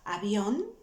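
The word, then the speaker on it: avión: page yes an airplane remember the letter v was pronounced like a b yes so for those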